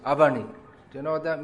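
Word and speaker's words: अवनि: In Hindi that's pronounced Avani.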